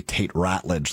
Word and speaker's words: Ratledge: And then I believe it will be Tate Ratledge that moves to right guard. Ratledge, isn't it? I thought it was Rutledge. Pronounced Rutledge. It's spelled Ratledge.